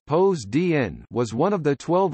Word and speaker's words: Ποσειδῶν: Poseidon, Greek, Poseidon pronounced pos dn, was one of the 12 Olympians in ancient Greek religion and myth, god of the sea, storms, earthquakes and horses.